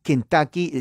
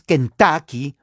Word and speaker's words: Kentucky: saben inglés se pronuncia se escribe con la u muchos dicen en español que en tuki pero la u en inglés es una a corta gutural o sea no es Kentucky pero es Kentucky O